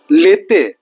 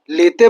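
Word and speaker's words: l'été: লেতে। লেতে বলতে ফরাসিতে সামারকে বোঝানো হয়। ফ্রান্সে জুন, জুলাই এবং আগস্টকে সামার ধরা হয়। তাহলে সামারকে আমরা ফরাসিতে কি বলব? লেতে।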